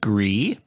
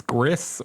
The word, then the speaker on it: Gris: people don't realize that that's gree as in French for gray so a lot of people keep reading it as Gris or Grizz and I didn't realize